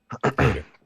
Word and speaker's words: Hayter: Is it Hatter or Hayter? Hayter. Well, it's spelled Hayter.